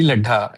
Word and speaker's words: Laddha: How do you pronounce this word? लड्ढा, LADDHA।